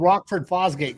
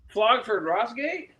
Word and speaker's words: Rockford Fosgate: You know, I'm an old Rockford Fosgate kind of guy from the mid 90s. Flogford Rossgate?